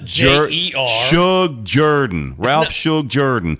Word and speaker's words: Shug Jordan: It's not Michael Jordan.